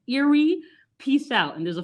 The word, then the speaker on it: Erie: daddy is from cleveland the lake is pronounced eerie peace out and there's